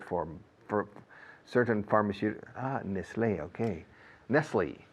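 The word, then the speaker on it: Nestlé: for certain pharmaceutical ah Nestle okay Nestle in English we say Nestle NES tle okay b-a-y-e-r b-a-y-e-r you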